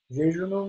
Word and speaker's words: jejunum: Jejunumla devam ediyor. Biz Anglo-Sakson terminolojide jejunum diyoruz. Biliyorsunuz Alman ekolüne göre Latince'deki J harfleri Y olarak okunur.